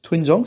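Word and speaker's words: 된장: Donc on a le O, le E, on a vu que OE, en fait, ça s'écrivait OI, mais ça se prononce bien OE. Donc Twe, enfin le N à la fin, donc Twen, et pour Jang, normalement, il n'y a pas de souci. Doenjang, ça ressemble à ça.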